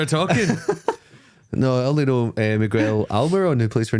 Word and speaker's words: Miguel: he's 6'2 he's called mguel that's not even the right pronunciation is it Miguel Miguel Miguel yeah no